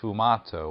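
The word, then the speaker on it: sfumato: fine level of kiaro skuro is actually called fumat which is spelled SF u m a t o and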